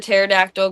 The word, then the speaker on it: pterodactyl: Why could you not hear the pterodactyl go to the bathroom? Because the P is silent.